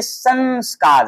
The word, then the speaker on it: संस्कार: देख रहे हैं बच्चों अगर बीच में कोई आधा हो या अंग स्वार आ जाए तो वहां पे हम लोग न का उच्चारण करेंगे इसको पढ़ेंगे संस्कार संस्कार यानी कि न का उच्चारण इसमें हम लोग लगा के करेंगे और म का जो